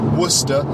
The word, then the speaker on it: Worcester: the capital the main city in Worcestershire is Worcester which is spelt wor c est ER but it's pronounced